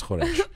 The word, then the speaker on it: khoresh: She's saying lazy people say it, but the official way is khoresh.